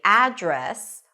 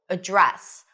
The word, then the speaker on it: address: me your address, then you can either say address with the stress on the first syllable and an a as in cat sound. Address. Or you can put the stress on the second syllable, address. What's your address or what's your address? Both are correct.